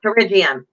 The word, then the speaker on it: pterygium: the ravine fellas yeah the P is silent I gotta write it